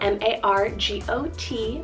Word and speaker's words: Margot: Swinging to a vintage option here, we have Margot, spelled M-A-R-G-O-T, Margot.